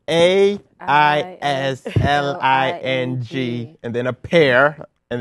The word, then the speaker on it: Aisling: It's AISLING and then a pear. And then a tree. Put it together, and that's Aisling. Aisling. No, G. The G is silent.